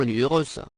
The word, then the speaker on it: Lurs: nom des habitants de Lurs et lurcien nota bene on prononce bien sur l'URSS n’est donc pas homophones de Lure l'urssa reçu le label